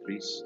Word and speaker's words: Gris: I think it's made by a Spanish company, so technically the pronunciation is Gris. This is like Spanish for gray.